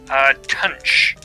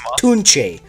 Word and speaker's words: Tunche: Tunch. Hand-drawn it's pronounced Tunche.